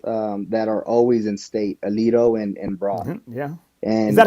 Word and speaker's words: Aledo: We have two towns that are always in state, Aledo and Broughton. Yeah. Is that And how you say it, man, Alito? Because I would always say it like yeah, Alato, you know.